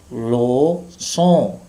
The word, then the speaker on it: leçon: Leçon, leçon. Here, on is pronounced on. N here is not pronounced.